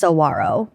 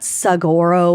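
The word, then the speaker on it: saguaro: And it's basically joking about how it's definitely pronounced sawarro and not sagoro or saguarro.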